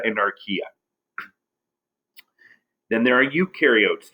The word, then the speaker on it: eukaryotes: archaea then there are eukaryotes you rhymes with do they do have membrane-bound